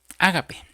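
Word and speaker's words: ἀγάπη: Y la palabra que que se se traduce amor aquí en este versículo, hermano, viene de una palabra griega que se pronuncia ágape.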